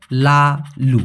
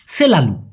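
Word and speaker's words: selalu: সবসময় কথাটি লাগাইতে পারেন সবসময়কে মালয়েশিয়ান ভাষায় বলা হয় লালু আমরা অধিকাংশ সময় এভাবে উচ্চারণ করি কিন্তু ভাই স এর জায়গায় হবে হচ্ছে সলালু তো ডিয়া সেলালু মিন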